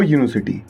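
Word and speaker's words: university: अब इसे देखो, अ यूनिवर्सिटी, स्पेलिंग तो वोवल वाली है पर साउंड कॉन्सोनेंट वाला है।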